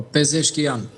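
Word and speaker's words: Pezeshkian: Si pronunci i saktë? Po pezkian.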